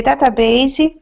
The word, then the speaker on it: database: go ahead okay the database will help robots work out what to do with your objects they have not seen before okay great and database the E is silent just to let you